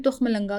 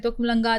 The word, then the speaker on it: तुखमलंगा: जिसे हम आम जबान में तुखमलंगा कहते हैं। आप उसकी बात करें ना आप सही प्रोनाउंसिएशन ले रहे हैं। यूजली लोग कहते हैं तुखलंगा तुखलंगा वो छोटे-छोटे बीज होते हैं।